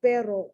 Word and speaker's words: pero: the one with the two ares perro that means dog the one with the one r pero that means but but you don't understand